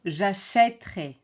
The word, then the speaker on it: achèterai: Alors, à l'infinitif, c'est acheter, donc on prononce e, mais au futur, on prononce j'achèterai.